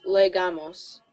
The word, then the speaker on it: llegamos: When a double L, you pronounce it like a Y. Llegamos. Oh, okay. Now, I have a little bit of I learned my Spanish in Argentina, so I actually say it like a J almost, llegamos, because that's how they say it there.